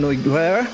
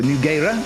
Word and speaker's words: Nogueira: Very, very good effort there from Noiguera, or Nogueira, as Fabio has tried to educate me as to how he would pronounce it. And Fabio, of course, being Portuguese, Nogueira being Portuguese, you'd imagine that's probably how it is pronounced.